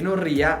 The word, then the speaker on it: Rea: better having said this I know it's pronounced "Rea" but I like to say it Italian style.